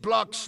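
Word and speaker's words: Blockx: Just the help cam for the next semifinal blocks is pronounced blocks not with assh from a Belgian.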